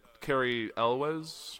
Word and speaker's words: Cary Elwes: talked about earlier in the show with a Cary Elwes that's how you pronounce his name yes absolutely that movie's hilarious